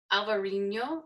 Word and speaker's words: Alvarinho: Alvarinho, as they pronounce it there.